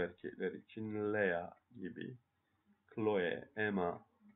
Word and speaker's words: Emma: Chloe, Emma. Fransızca'da çift harfler tek okunur. Ona dikkat edelim.